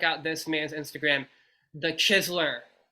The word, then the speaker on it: Chizeler: got to check out this man's Instagram the chisler it's spelled t h e c h i z e l e r the chisler all right so yeah it's actually definitely is